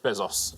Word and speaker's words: Bezos: Uh yeah, Jeff Bezos uh is how you would pronounce it, but uh yeah, he's the richest man on the list.